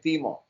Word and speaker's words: Timo: yeah you know Timo some people say Timo some say Timo and whatever in friendly you would say Teemo Teemo okay yeah it's like team always like being called like